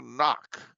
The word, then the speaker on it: Knock: No, Knock. As in knock, knock, who's there?